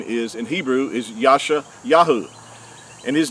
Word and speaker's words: Yahuah: how we know that his name is pronounced as Yahuah, and not as what most people think as Yahweh or Jehovah, and all these hybrid names.